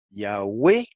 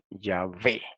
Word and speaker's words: Yahweh: Las dos formas son correctas. Yahweh o Yahvé. ¿Por qué? Simplemente que Yahvé es la forma del hebreo moderno, aunque los judíos nunca pronuncian el nombre.